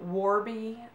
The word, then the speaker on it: Warby: money yes it was Monday I went to Warby Parker I think that's how you pronounce the first word it's w AR B